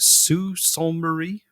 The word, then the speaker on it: Sault Ste. Marie: Sault Ste. Marie?